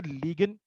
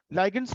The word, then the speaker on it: ligand: अब यहाँ पे बात को समझना है, लीगेंड एक वर्ड यूज कर रहा हूँ ना, लीगेंड, लीगेंड्स, लाइगेंड्स भी पढ़ते हैं इसको और प्रोनाउंस और लीगेंड भी कहते हैं, ठीक है।